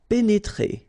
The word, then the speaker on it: pénétrer: pénétrer. Okay, remember here, accent aigu and then accent aigu. So you pronounce it E.